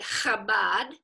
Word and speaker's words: Chabad: So we pronounce it Chabad.